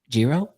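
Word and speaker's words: Giro: you're here because I was butchering this name, Jiro. Yeah, I think that's how you say it. Jiro.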